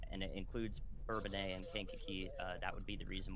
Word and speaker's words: Kankakee: So if you get a warning and it includes Bourbonnais and Kankakee, that would be the reason why, is because